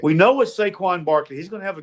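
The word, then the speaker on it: Saquon: Herz is capable playing we know what squ squin squin Barkley is gonna do why can't say his name right we know what saquin Barkley he's gonna have a good game okay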